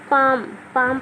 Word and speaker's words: palm: देखिए रूल के अनुसार MFKD से पहले एल आएगा तो वो साइलेंट रहेगा। तो ये एल आ गया एम से पहले, इसलिए हो गया साइलेंट। इसको हम नहीं पढ़ेंगे, अनदेखा करेंगे, इग्नोर करेंगे। तो इसलिए हम पढ़ेंगे पाम, ना कि पालम।